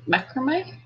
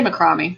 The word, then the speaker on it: macrame: Fiber wants to learn how to do macrame, or I think you might pronounce, Americans call it macrame. I say macrame. I think that might be the Aussie way to say it.